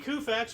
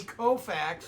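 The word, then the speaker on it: Koufax: um anyway 1963 Sandy kfax won National League MVP award hold on hold on you got to pronounce it right Sandy kofax kofax sorry kofax greatest left-hander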